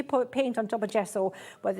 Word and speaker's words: gesso: Why would I need gesso in my life?